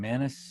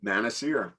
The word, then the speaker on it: Manasier: oh is your name how do you say your name, Manasier. here Manasier you got it chris so i got